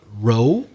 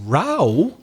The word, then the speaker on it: row: same way and may or may not be pronounced the same way we've got rho r o w remar but it could also be rho r o w fila or also r o w but now pronounced rao different pronunciation but still the same spelling r